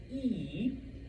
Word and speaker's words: y: But when it's all by itself it is pronounced E which means and and it's what we use to add numbers together.